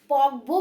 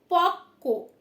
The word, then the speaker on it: পক্ব: পক্ব বলবো? নো, এটা কিন্তু পক্ক, ঠিক আছে? পক্ক, পক্ক মানে হচ্ছে পাকা, ঠিক আছে? দেখো বানানটা দেখে নাও, প কয় যুক্ত ব, তাতে কি হলো উচ্চারণ? কয় ব ক, তাহলে কি হলো?